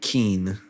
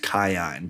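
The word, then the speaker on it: Kiin: what the heck and it's it's her uncle Keen. Kion apparently his name is supposed to be pronounced Kion but I am not saying that.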